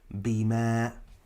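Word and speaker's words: بما: Ba with the kasra b, meen fatha with the alif sukun ma, bima.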